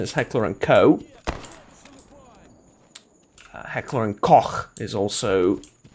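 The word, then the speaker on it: Heckler & Koch: heck or um uh the correct angle size pronunciation is heckler and co heckler and coch is also what i've heard people pronounce it as today i've heard it pronounced as heckler and coach or was it cooch one of the two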